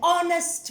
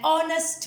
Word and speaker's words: honest: But the consonant H is silent and the word starts with a vowel sound. We've got to pronounce it an honest man, not an haw. It's pronounced an honest man.